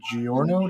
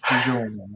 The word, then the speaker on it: DiGiorno: Okay, and it's from Fizz by Giorno. Did I say that right? You said it right, yeah. Fizz and Giorno. Hmm. It's not delivery. It's DiGiorno. DiGiorno.